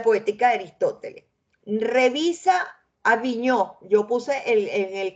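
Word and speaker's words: Vignaux: de Aristóteles revisa a viño yo puse el en el classroom este con b de Venezuela vigus se pronuncia viño este allí él trabaja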